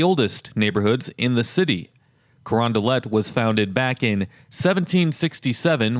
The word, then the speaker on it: Carondelet: not from the area you might look at the name and think that it's French and you might want to pronounce it as corand but the way that the locals say it is corondelet so iay on the